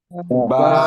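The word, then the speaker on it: باء: বা, দুই ঠোঁট থেকে বা, একসাথে বলেন। با তারপরে এই অক্ষরটা দেখবেন সবাই, এই অক্ষরটা কি?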